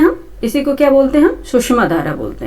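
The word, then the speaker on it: Tsushima: ठीक है, जापान सागर के पश्चिमी तट पे जाकर सुषमा करंट, टी साइलेंट है इसका। सुषमा, ठीक है, सुषमा करंट है।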